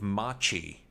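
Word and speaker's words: Maciej: I believe Machi is how you pronounce his name. I googled it, looked for some Polish pronunciation stuff because I feel bad butchering people's names, but I think Machi is the correct pronunciation.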